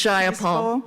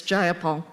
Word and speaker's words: Jayapal: takeover it was just jaya paul if you're going to say my name please say it right it's jayapal jayapal clearly these democrats